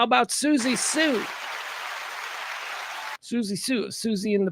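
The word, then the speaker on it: Siouxsie Sioux: Susie Sue. Susie. Susie Sue. Spelled like the Sioux Indian tribe. That's why I'm having difficulty with it.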